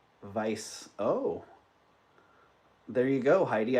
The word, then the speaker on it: Weiss: You can't pronounce the W. Vice. Oh, there you go, Heidi. I could see that. All right, Heidi's in at 35. Vice.